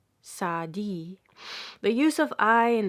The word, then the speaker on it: Saadi: or the name of the famous poet Saadi, pronounced Saadi.